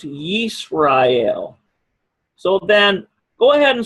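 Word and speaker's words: ישראל: This is pronounced Yisrael.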